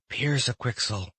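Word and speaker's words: Pyrzqxgl: Piers-a-Quixel." He pronounced it the right way, so in a flash he felt that he was completely changed in form.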